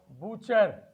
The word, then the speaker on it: butcher: We have butcher. We have Christmas. We have hustle. In these letters, we find T is there, but the pronunciation of T is completely silent.